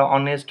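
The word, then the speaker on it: honest: इसी तरह ऑनेस्ट में भी एच साइलेंट है, लेकिन ये अलिफ मद्दो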